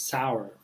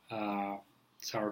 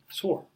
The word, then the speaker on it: sour: I personally love eating sour cream with curd. And a lot of people mispronounce it. Instead of saying sour, they say sore, which is the second word, which is a pain.